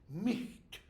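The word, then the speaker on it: miht: One of those has M-I-H-T, Micht. The H becomes G-H, okay? And then later is no longer pronounced.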